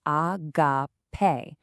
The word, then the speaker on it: agápē: You pronounce it agápē.